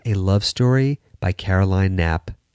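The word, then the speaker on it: Knapp: Love Story by Caroline nap nap is spelled KNN AP it's a very insightful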